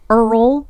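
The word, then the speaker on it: Eorl: So it's based on a short story called The Lord of Earl. It's spelled E-O-R-L, but it's pronounced Earl.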